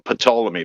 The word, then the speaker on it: Ptolemy: are based on pathology i call him patolomy by the way with i pronounce the p um all the other